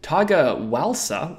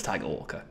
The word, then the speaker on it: Tiger Walker: games would be good tiger waler says Richmond's injury list in Brackets hopefully you can pronounce my name right this time I'm joking I know it's tiger Walker I'm sorry I'm hilarious